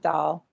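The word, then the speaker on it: Dahle: brian dowley yeah yeah i think they pronounce it doll doll i wrote a book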